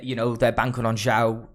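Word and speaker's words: Zhou: know they're banking on show is it is that how you say it am i saying it right a show joe joe joe there you go um you know shows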